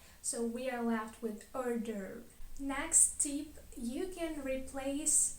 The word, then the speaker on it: hors d'oeuvre: is not pronounced and the e at the end of the second word is not pronounced as well so we are left with order next tip you can